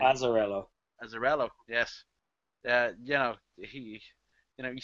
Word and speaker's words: Azzarello: How do you pronounce his name? Azzarello.